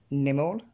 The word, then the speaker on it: animal: Parce qu'en fait, ici, l'accent tonique va tomber sur la première syllabe, le A, je vous l'ai souligné. Et du coup, ça va nous donner animal.